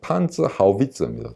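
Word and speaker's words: Panzerhaubitze: 그러면 지금 이 곡사포, 이 자주포를 설명하는 사람들마다 전부 발음이 다르게 나오는데요. 이게 무엇의 약자냐면 판츠 하우비츠입니다. 독일어로. 판츠라는 건 장갑이라는 뜻입니다. 아모, 영어로 하면 아모죠. 근데 하우비츠는 스페링은 똑같습니다. 영어에 이제 곡사포, 유탄포, 이걸 허위츠라고 그러는데 독일어는 하우비츠가 되는 거죠.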